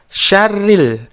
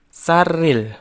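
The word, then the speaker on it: شَرِّ: Selanjutnya, ketika membaca syarril, kita membacanya sya, bukan sa. Jadi membacanya syarril, bukan sarril.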